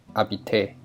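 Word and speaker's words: habiter: seen before which is arbite to live remember that letter h is silent so it is pronounced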